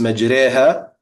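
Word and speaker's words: مجريها: And we have a special symbol for the word, the two words, ta'manna and majraha, which is pronounced majreha and ta'manna.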